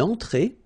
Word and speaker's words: entrée: Then une entrée. Une entrée. Okay, remember, well, technically this final here is not pronounced, so phonetically it doesn't exist, so it's et, okay?